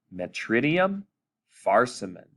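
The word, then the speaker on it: Metridium farcimen: it together it is the genus is metri dium metridium metrium and the species is farsum men far see men so let's say it together metridium farsimen there you go mother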